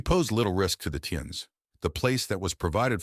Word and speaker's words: Tians: The aliens, known as Tians, pronounced Tians, would study her daily.